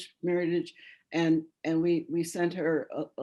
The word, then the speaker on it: Meritage: She had written that meritage is pronounced meritage, that it's French. And we said, actually, no, it's meritage, meritage.